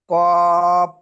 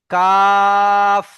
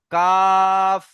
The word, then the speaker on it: কাফ: লা, কপ, এটি কাফ, কাফ। কাপ, কাপ নয়, কাফ। কাপ, শেষে ফ উচ্চারণ হবে, ফ, কাফ।